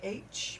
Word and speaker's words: Morpork: And Morpork, Morporkh, maybe?